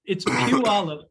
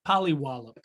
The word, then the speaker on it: Puyallup: Listen, so it's Puyallup. My wife in public called it Puyallup.